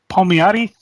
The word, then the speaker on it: Palmiotti: Palmiotti.